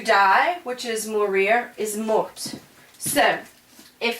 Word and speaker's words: mort: a little differently, because you don't pronounce the T. Remember, you only pronounce really C, R, F, and L. So this would be il est mort.